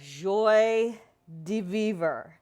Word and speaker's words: joie de vivre: So the pronunciation, you hear it different ways, but joie de vivre.